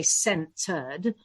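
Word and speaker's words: Scentered: And my team loathe me for saying this, but the whole Scented brand, which is, of course, dyslexically spelt with an S and then the scented feeling. So it's a centered.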